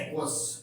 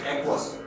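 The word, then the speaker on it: aqueous: इसके अलावा भी एक होता है AQ, ओके, आपने बहुत सारी जगहों पे देखा होगा, वो पढ़ा जाता है एक्वस। ओके, एक मिनट स्पेलिंग में रॉन्ग हो गया, AQUUEOUS, ओके, एक्वस।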